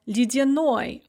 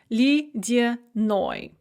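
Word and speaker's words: ледяной: For example, lydyanoi, icy. The stress is on the ending, and so both the ye and the ya in the middle are pronounced kind of like e, lydyanoi.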